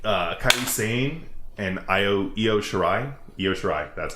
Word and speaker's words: Io Shirai: Io Shirai, that's how you say it.